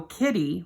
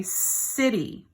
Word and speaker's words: city: But we don't go kitty, we say city. So that soft C sounds more like an S sound.